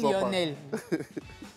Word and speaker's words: Lionel: Mais pourquoi tu prononces ça, cousin? Comment je fais quoi? Lionel, excuse-moi, je prononce mal ton nom. Non, ça va. Non, dis-moi si je prononce mal ton nom, moi je suis sorti. Dis pas quoi, on dit Lionel.